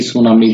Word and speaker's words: tsunami: এবং এটার উচ্চারণ হচ্ছে TSUNAMI, সুনামি বলা হয়।